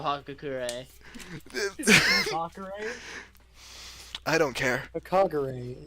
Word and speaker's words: Hagakure: Kagure is how it's pronounced.